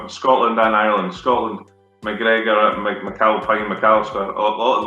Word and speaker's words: McGregor: Ooh, McGregor. You'll find that in Scotland, Mac or Mick at the start of the name is very, very popular. In Scotland and Ireland. Scotland, McGregor, McAlpine, McAllister, a lot of them.